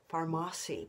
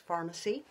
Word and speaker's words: Farmasi: See, I think it should sound like Farmasi, but it is pronounced pharmacy. Most people say it that way.